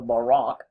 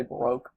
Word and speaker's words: baroque: about the baroque or as the narrator talks he calls it the barack he's british so he pronounces it that way we generally say baroque um if you look